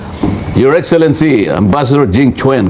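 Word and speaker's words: Jing Quan: Your excellency ambassador Jing Chwen. Huwag mong sasabihin kwan.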